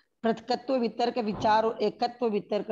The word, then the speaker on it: पृथक्त्व: पहले शुक्ल ध्यान का नाम पृथक्त्व वितर्क है, पृथकत्व नहीं। बहुत बार उच्चारण में आधा क पूरा बोलने में आ जाता है।